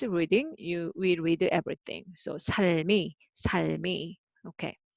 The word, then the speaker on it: 삶: So as a single syllable, and this one is a life, meaning is life. So it is a noun. So noun, then second one speak out. So this is a 삶, not 살, 삶.